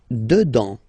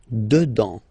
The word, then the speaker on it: dedans: Dedans. Final S not pronounced. Dedans.